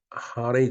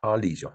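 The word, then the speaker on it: Harley: 근데 일본은 인제 하레이 데이비슨 또는 줄여서 하레이라고 부른다는데 참 일본 사람들은 참 답답해요. 이게 말이 그러니까 HAR이니까 하 그다음 LEY니까 하레이 이렇게 발음을 하는 것 같으네요. 네. 근데 원래는 할리죠, 할리.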